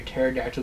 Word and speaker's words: pterodactyl: can't you hear a pterodactyl go to the bathroom because the P is silent you're right you do